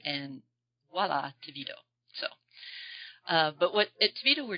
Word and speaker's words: TeVido: Pronounce it for me. TeVido.